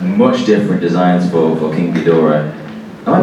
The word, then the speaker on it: Ghidorah: In Destroy All Monsters, they voice over the guy go, King Ghidorah. So that's how I pronounce it now. King You Ghidorah. gotta emphasize that middle syllable.